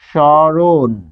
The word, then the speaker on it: স্মরণ: শব্দের মধ্যে এগুলো আমাদের খেয়াল রাখতে হয় যে মফলার উচ্চারণ হচ্ছে শব্দের আদিতে মফলা যুক্ত হলে সাধারণত অনুচ্চারিত থাকে শব্দের আদিতে বসলে অনুচ্চারিত অনুচ্চারিত থাকে কিরকম স্মরণ দেখুন এটাকে ভাঙলে হবে দন্তস হসন্ত যুগ্ম ম তাহলে এটির উচ্চারণ কি হবে স্মরণ স্মরণ এখানে হসন্ত দিতে হবে